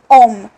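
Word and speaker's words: homme: सो we have H here. ठीक है, which is silent in ओम.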